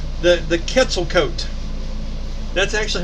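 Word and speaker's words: Quetzalcoatl: um avian creature that they call the the quetzalcoat that's actually how you pronounce that it's spelled q-u-e-t-z-a-l-c-o-a-t-l no [ __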